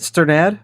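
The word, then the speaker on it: Strnad: The Black Dahlia Murder is that how you say it Stern ad Stern ad stern ad that's how I've always said it so okay good that's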